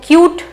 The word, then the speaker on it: cute: तो यहां पर देखो ये लिखा हुआ है CUTE, तो इसको कट नहीं पड़ेंगे, इसको क्यूट यू वाला साउंड क्रिएट होगा क्योंकि यहां पर ई लगा हुआ है, तो ये हो गया क्यूट।